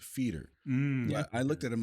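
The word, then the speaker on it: foeder: aged with blueberries but I guess that word is pronounced feeder I looked at I'm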